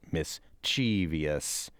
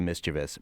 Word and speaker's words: mischievous: Middle School in Springfield it is non-standard the way that the majority of you at that school are using it mischievous as opposed to mischievous but that we don't know of any cultural or Geographic bent as to who pronounces what but isn't a word